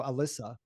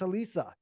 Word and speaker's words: Elisa: go Alyssa, and she's like it's Elisa, and so she backs you up.